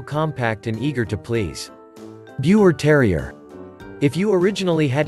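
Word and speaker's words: Biewer: Bure Terrier. If you originally had a Yorkie in mind, consider its younger cousin instead. The Bure, pronounced Beaver.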